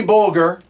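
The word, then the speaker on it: Bolger: Soft Bulger. G. Soft G.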